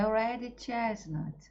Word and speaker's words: Red Chestnut: A pronúncia é Red Chestnut, ok?